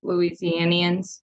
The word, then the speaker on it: Louisianians: So they're like, I don't know, 10, 12 generations of Louisianians, something like that.